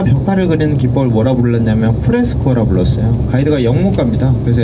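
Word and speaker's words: fresco: 그래서 간단히 얘기해 드리는 부분인데, 이 천정이나 벽화를 그리는 기법을 뭐라 불렀냐면 프레스코라 불렀어요. 가이드가 영문가입니다. 그래서 F 발음에 굉장히 유의해 주셔야 돼요. 다 같이 한번 해볼까요? 프레스코, 아랫입술을 지그시 꾸물으셔야 됩니다.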